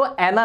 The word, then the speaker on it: Anne: जाता है एनाबेल हु वाली डरावनी चीज तो आना नाम है तो आना ही ज्यादा अच्छा भी लगता है बोलना लेकिन आपको स्पेलिंग पता होनी चाहिए आप एंड अभी पोल सकते इसको एंड अभी पढ़ सकते